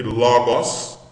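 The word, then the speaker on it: λόγος: Veja que logos, acento no O, logos, tem duas sílabas, porque são duas, olha só, o número de sílabas é igual ao número de vogais.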